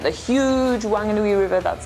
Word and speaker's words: Whanganui: But some people say Wanganui because it's spelled W-H and people can't pronounce F. So how do you spell the town that we are in right now?